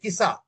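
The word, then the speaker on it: Qisas: you can call it KISA, kisa. Okay, sir. Okay, it is pronounced as kisa.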